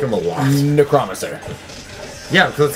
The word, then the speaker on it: Necromancer: We say Necromancer, because that's actually how you pronounce it.